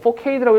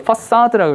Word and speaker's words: facade: facade, 원래 이거 4K라고 읽지 않고요. facade라고 읽어요.